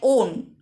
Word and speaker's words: অন: অন, ভাববাচ্যে ধাতুর সঙ্গে এই প্রত্যয় উচ্চারণ হয় ওন, যুক্ত হয়ে ক্রিয়াবাচক বিশেষ্য